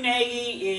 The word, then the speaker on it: Nagy: written by a man named Matthew Negi Nagy is spelled GNA gy Matthew nayi is in my opinion the foremost authority in